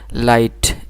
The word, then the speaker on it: light: আছে যেগুলো সাইলেন্ট থাকে যেমন মনে করেন লাইট LIGHT লাইট এখানে GHটা আমরা প্রোনাউন্সিয়েশন করি নাই এরকম নো KNOW নো